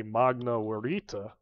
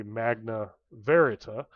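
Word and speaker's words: Magna Veritas: the source cosm and my pronunciation is based off of classical Latin not medieval Latin so I am going to say Magna warita but you would probably say Magna verita but either way that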